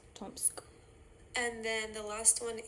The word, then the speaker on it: Tomsk: is going to be the hardest one it's pronounced Gorka gor so you say gor then the next one it's tomsk tomsk and then the last one is nadda nadda